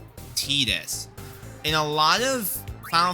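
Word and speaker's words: Tidus: consensus which is that uh his name is pronounced Tetus.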